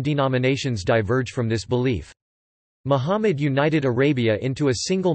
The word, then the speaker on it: Muhammad: Muhammad Arabic, Mumd pronounced Muhammad, c.